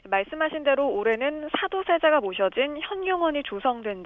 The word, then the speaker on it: 현륭원: 네, 강승희 아나운서 이 발음을 그냥 표준 발음으로 혈룡원으로 통일을 하면 좋을 것 같습니다.